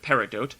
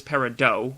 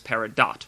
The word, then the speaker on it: peridot: that's neither of them one is peridot with a long o but a silent t and the other is peridot with a hard t but a short o i guess my pronunciation